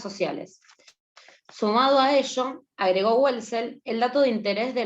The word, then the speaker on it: Welzel: Que yo digo Abigail Welzel porque la W en alemán se pronuncia B, o sea, se ve como una B corta, digamos.